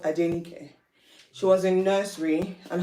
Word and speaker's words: Adenike: Adenike, 4 syllables. Surely they can learn it. And it's pretty simple.